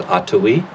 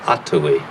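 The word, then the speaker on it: atowi: it more going forward the word and the name is ottowe a t o w i ato e uh you have to learn how to speak avenaki to say it properly the accents on the first syllable atoi it means together in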